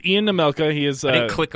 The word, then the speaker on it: Nemelka: Nemelka.